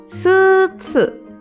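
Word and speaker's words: スーツ: Ditulis dengan huruf katakana jadi su, strip, su, suits. Jadi setelan jas dalam bahasa Jepang bisa disebut suits.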